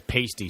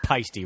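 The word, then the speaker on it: Paiste: I was corrected so there's a silent a in there basically is what it is yeah it is definitely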